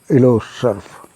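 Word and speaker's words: Île aux Cerfs: 9:30 बजे यहां वापस आ जाओ हम सब इलो सर्फ एक्चुअली यह फ्रेंच शब्द है आइल ऑक्स सर्फ इसकी स्पेलिंग है आई एल ई ए यू एक्स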